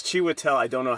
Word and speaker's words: Chiwetel: Oh, I always forget how I can't Oh, pronounce his name. it's Chiwetel.